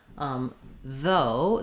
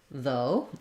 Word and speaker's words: though: So in this word, though, the GH is silent. There's no f sound for those letters GH, and the letters OU are going to just say the O diphthong.